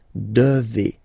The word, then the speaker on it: devez: Remember, classic ending for vous here, a Z, but then you pronounce this combination of two letters, et, devez, devez, vous devez.